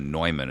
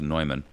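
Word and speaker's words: Neumann: by the name of nyman it's spelled like Newman but it's pronounced nyman they are um the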